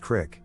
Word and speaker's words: Creek: encounter with the Salt Creek Monster. If you live in central Illinois, that is pronounced crick, not creek, lol.